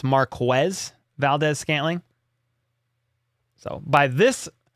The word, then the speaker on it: Marquez Valdez-Scantling: People call him Marquez, like all the time, and it's Marquez Valdez-Scantling.